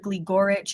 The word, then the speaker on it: Gligoric: Gleoric does work but professionally her name is Jennifer Gleoric is how it is pronounced.